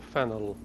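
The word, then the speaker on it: Faneuil: the new lynn hall don't let the french spelling confuse you the name of this building is pronounced fenuel or fennel getting it wrong is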